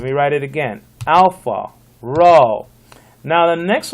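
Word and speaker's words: ρ: out this is alpha this is rho it looks like a p but it's not a p okay it's a row it's equal to our r like in roof randy ralph etc so it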